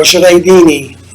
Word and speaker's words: Jureidini: Jureidini, or Jureidini in Arabic.